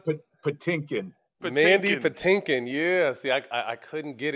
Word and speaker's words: Mandy Patinkin: Mandy Patinkin.